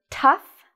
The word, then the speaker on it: tough: have here the word tough enough rough so in this case o-u-g-h has an f sound you wouldn't know this